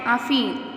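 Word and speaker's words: Aafin: आफीन के स्पेलिंग है double A एफ आई एन आफीन।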